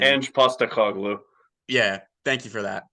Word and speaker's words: Ange Postecoglou: I don't know how to pronounce his name. Ange Postecoglou.